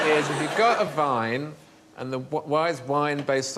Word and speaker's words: Wein: But the Germans say vine and spell it with a W.